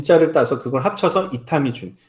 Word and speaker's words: 이타미 준: 자를 따서 그걸 합쳐서 이타미 준 그 인자가 1번 발음으로 주니 되요 그래서 이타미 준의 라는 예명을 사용한 예명을